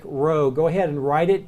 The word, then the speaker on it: rho: an are not AP that is a row so think row go ahead and write